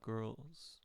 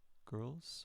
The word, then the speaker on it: girls: What about girls? Girls or girls? What about that L? Where do we find the L? Look for it, please. L. Okay, I hope you found it. It's in the voice, so it's pronounced with a Z.